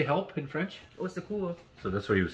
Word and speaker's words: au secours: Au secours. So that's what he was saying. Yeah. Au secours, au secours. So that's like how many syllables? Three syllables to say help for one syllable.